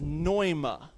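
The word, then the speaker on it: πνεῦμα: word using English letters here's how you'd spell it p n m a NOA the P silent think real quick common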